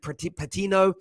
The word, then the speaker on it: Patino: And of course, it was kind of put to bed in the end by, I think it's pronounced it, Patino, the young 18-year-old debutant who came on, got the 5th goal.